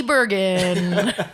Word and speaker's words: Bergen: Haley, who's this guest in front Oh, of this is with a hard G Bergen.